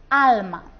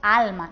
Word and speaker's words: alma: Alma. Decimos alma, no decimos alma. Así que la sílaba tónica será esta, la penúltima.